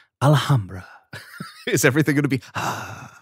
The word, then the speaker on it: Alhambra: Alhambra, and I will say it correctly this time, is awesome because it is very competitive.